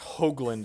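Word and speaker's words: Hoagland: my sequencing mistakes my last name is pronounced hogland long o I have a second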